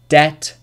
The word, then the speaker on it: debt: yes rule number 2 B is usually not pronounced before T at the end of a root word for example debt doubt subtle subtle doesn't